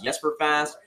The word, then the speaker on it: Jesper Fast: just for fast and your pronunciation is yes for fast how do you just